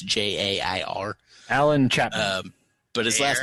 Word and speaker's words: Jair: It's Jair.